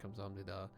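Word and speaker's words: 감사합니다: It's like Kamsahamnida, and she did like a double take at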